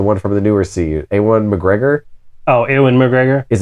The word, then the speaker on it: Ewan: Like almost like Owen, but British people got to do different.